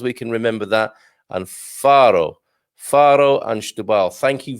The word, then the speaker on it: Faro: good morning portugal uh farrow farro is pronounced faro satterbaal is pronounced double